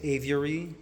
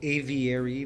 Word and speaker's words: aviary: Canadians, we say avary, but I know Americans call it aviary. They add an extra syllable.